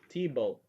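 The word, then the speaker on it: Thibault: T-Bolt. Oh, so that's how you pronounce it.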